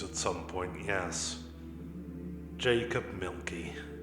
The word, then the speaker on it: Mielke: some point yes jacob milky like the drink only not spelled the same how do you spell